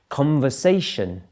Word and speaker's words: conversation: Conversation, the second one, conversation. Where's the stress there? It's actually on the third syllable. Primary stress, conversation.